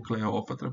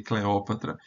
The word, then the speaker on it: Cleópatra: diotima uma sacerdotiza e cleopatra ou Cleópatra porque em aqui é é é longa essa sílaba última por isso cleopatra mas em em latim essa sílaba é breve então aqui vai ser Cleópatra é uma Basileia rainha